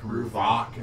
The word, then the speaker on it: Ruvak: Ruvak is Ruvak. It's like Because Bach. there's 2A is like Aardvark.